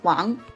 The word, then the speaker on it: Wang: include Wang Lee Hong last name pronounced as Wong and Huang lisin last